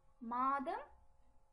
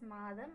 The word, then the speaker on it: மாதம்: மாதம் or மாசம். So, மாதங்கள் or மாசங்கள். மாதங்கள் or மாசங்கள், both are right. While writing, we say it as மாதம், மாதங்கள். While speaking, we pronounce it as மாசம் or மாசங்கள்.